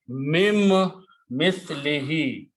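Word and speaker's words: مِن مِّثْلِهِ: happen in the recitation when a noon and a meme come together. Then the sound of noon goes away and sound of meme becomes twice. So that's the reason we will put a shadda on meme, that do not pronounce noon, but pronounce meme twice.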